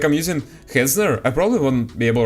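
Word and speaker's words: Hetzner: Like I'm using Hezner. I probably won't be able right now because I'm not sure if like it it shows any personal personal information, right? It's pronounced Hezner.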